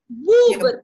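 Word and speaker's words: bóbr: Бубр, то у, бубр.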